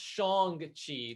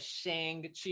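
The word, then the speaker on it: Shang-Chi: someone watch the train i've heard that it's pronounced shong chi like not instead of shang chi everyone says saying yeah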